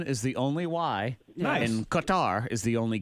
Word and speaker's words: Qatar: the only why in Qatar is the only Q or actually it's pronounced gutter sometimes ooh but it's an